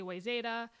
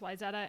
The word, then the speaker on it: Wayzata: was that a wrong they say wayzada but obviously it's wayzata and obviously because the